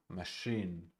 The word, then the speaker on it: machine: Machine. Machine. Machine. The first syllable is unstressed.